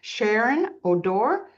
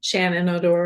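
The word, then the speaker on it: Shannon O'Dore: Um our special guests are Aussie Petmobile franchisee Sharon Odor. Did I pronounce that right, hun? Shannon Odor.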